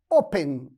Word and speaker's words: open: se divide em duas Open não é homem né é open e o outro está aí em vermelho e olha observa que a tônica dela está na primeira sílaba então eu não